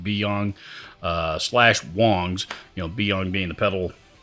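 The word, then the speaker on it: Biyang: I've pronounced it Byang forever, and I just recently realized I've been pronouncing it wrong. It's actually pronounced Beyong /Wangs.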